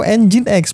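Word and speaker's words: Nginx: mic mode Ini Membutuhkan Apache atau engine X bacanya dan PHP di sini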